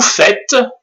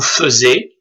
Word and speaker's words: faites: on dit nous faisons, mais surtout, vous faites, et non pas vous faisiez, vous faites, F-A-I-T-E-S, et ils font.